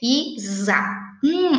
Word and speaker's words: Isadora: Isa. É que nem o nome da professora Rosana. Fala za, mas na verdade se escreve com S.